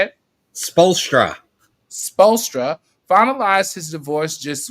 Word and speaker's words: Spoelstra: Spolstra.